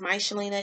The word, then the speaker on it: Michelina: michelina's but you know my name is my shalina in that's high school my name mr CH e li na so guess zombies em